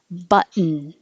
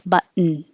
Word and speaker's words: button: Button. Same. Goes to the T position and holds it and makes a n noise. Button.